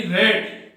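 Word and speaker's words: read: ऑलरेडी, I have ऑलरेडी रेड, have के बाद में की थर्ड फॉर्म आती है और सेकंड और थर्ड फॉर्म में रीड का उच्चारण रेड होता है, रीड रेड रेड, I have ऑलरेडी रेड,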